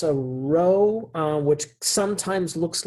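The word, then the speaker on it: ρ: italic small p um so yeah but it's pronounced row let's try this one more time maybe that's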